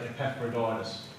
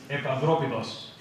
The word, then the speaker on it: Epaphroditus: need to do some brushing up on some pronunciation. I've heard people say Epaphroditus. Put up your hand if you say Epaphroditus. Okay, so we're going to say it right from now on. Okay, you with me? Epaphroditus.